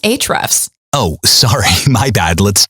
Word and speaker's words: Ahrefs: It's actually pronounced Ahrefs.